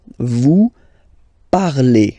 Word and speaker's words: parlez: Vous parlez. Okay, remember a z, when you combine them together, you get the sound e. Vous parlez.